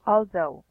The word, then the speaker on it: although: also, also, Although. also. Yeah, it's like you have to emphasize the th word or the th sound.